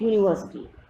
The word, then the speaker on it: university: Renu's sister studies in Dash University. Here you can see again U is giving consonant sound, and with consonant sound we use a university.